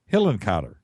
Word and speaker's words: Hillenkotter: Hillenkotter.